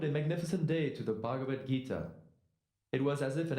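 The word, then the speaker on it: Bhagavad Gita: that that name right your attempt at pronouncing the Sanskrit language was Noble it's bhagavad-gita why don't you try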